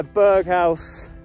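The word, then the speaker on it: Berghaus: jack winter fleester bandana out i've got my berghouse it's how you pronounce it jumper under this jacket because this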